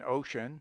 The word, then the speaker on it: ocean: C has sometimes a power of SH, as in ocean, social, associate, etc. O is pronounced like U in tub, in comfort, company, among, mongrel, tongue, etc.